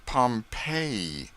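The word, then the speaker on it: Pompeii: They pronounce it Pompei.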